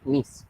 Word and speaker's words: niece: And because of that, well, there is like a little confusion because they are almost the same word, but the pronunciation is different. This one is niece, and that's it.